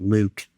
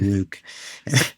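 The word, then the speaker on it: LIWC: word count L IWC we pronounce it Luke it doesn't look like Luke but hey it's mine I call it Luke and so uh you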